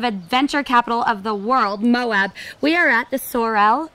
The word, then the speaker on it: Moab: We are back, and as my son says, in Mo, but I think there's two syllables, aren't there? I think so. Moab, Larry. Moab.